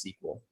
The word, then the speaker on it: SQL: the letter r and sequel is usually abbreviated sql and pronounced sequel yes it's short for